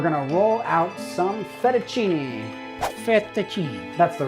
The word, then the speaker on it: fettuccine: Fettuccine.